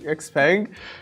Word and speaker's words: Xpeng: Brian Gu, Vice Chairman and President of how do you pronounce it? Xpeng.